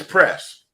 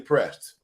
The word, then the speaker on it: Priest: It's Prest. Yeah, it's Prest. It looked like it's spelled Priest, but it's actually Prest.